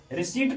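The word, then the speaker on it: receipt: रसीद यही है रिसीप्ट रिसीप्ट मींस यहां पी साइलेंट है रिसीप्ट पढ़ेंगे इसको रिसी मींस होता है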